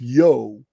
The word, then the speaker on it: Io: of their culture, Ionia, from Io, pronounced Yo, the Egyptian cow goddess, also called Hathor.